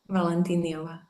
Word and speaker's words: Valentinyova: Valentinova.